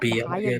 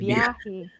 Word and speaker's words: biyahe: Bahaya, Not Bahaya, Biyahe. Biyahi. It's hard to pronounce for an American person.